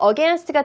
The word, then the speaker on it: against: 마지막 발음 같이 against라고 하지 말고 against. 하고 조금 T 발음을 굳이 끝까지 발음해주지 않으셔도 돼요. 왜요? T와 T가 붙어 있잖아요. 같은 애들 붙어 있으면은 조음점이 비슷하니까 발음하기 힘드니 조금 앞에 있는 T 발음을 약화시켜도 됩니다.